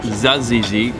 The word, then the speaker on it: tzatziki: mediterranean we've got some hummus tzatziki although it's pronounced zazizi i definitely recommend trying the musaka and one